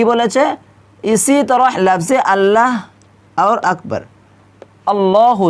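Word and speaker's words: أكبر: পারবেন না তারপর দেখুন আকবার এই আকবার হামজা কাফ জবর আক তারপর বা র জবর বার আকবর নাকি এখানে আকবার আমরা অনেকেই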